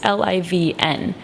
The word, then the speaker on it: Liv'n: But if you look at how living is spelled, it's Liv'n. And so it's liv'n. So it's like live and abroad.